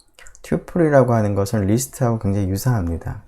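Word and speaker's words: tuple: 그 서플하고 철자가 비슷하기 때문에 서플처럼 읽어서 터플이라고 읽기도 하고요, 경우에 따라서는 사람들이. 아니면은 이제 쿼드루플이라고 하는 이 단어와 비슷하게 튜플이라고 읽기도 합니다. 자, 그런데 뭐 프로그래밍 하는 사람들은 대부분 튜플이라고 많이 읽습니다.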